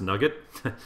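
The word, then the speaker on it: NuGet: add I actually manage I'm assuming that's pronounced nugget looks like nugget to me and we see that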